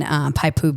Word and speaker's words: Poipu: I've just been there because we always stay in Paipu Beach. Oh, in Poipu?